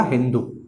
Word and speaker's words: हिंदू: और विद्यार्थियों, ईरानी लोगों ने, ध्यान रखिएगा, ईरानी लोगों ने जो है सिंधु को, ईरानी जो लोग होते हैं वो सा को हा पढ़ते हैं, ठीक है। ईरानी जो लोग होते हैं वो सा को हा प्रोनाउंस करते हैं। तो बात करें सिंधु की, सा को पढ़ेंगे हा, तो उन्होंने इसको बोला हिंदू।